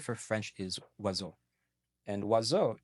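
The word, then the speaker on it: oiseau: French is wo and wazo is not spelled how it sounds to us in English of course but in French it's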